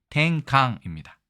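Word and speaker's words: てんかん: 일본어로는 어떻게 발음할까요? 탱강입니다. 근데 우리는 탱강이라고 얘기 안 하고 땡깡이라고 얘기하죠.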